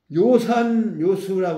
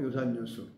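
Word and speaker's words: 樂山樂水: 풍류 학자에 물수 그런데 읽기는 음악이라는 악자 읽지 않고 즐길 요라고 읽는다 이거 한자 이제 뭐 시험은 자주 나오잖아요 옛날에는 뭐 한자 시험을 많이 봤는데 지금은 여기는 악자 아고 하면은 틀리고 요라고 해야 된다 악자화 낙자 읽어서는 안 된다 요산요수 이거 뭐 저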